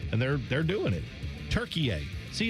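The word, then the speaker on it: Türkiye: Turkiye.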